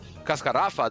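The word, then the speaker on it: Cascarrafa: That would have an accent, but Cascarafa doesn't have an accent because it's the second to last syllable.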